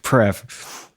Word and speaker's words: Preve: So Preve is fine. That's what all my elementary school teachers called me. It wasn't until I became a pretentious musician that I actually started using the proper French pronunciation.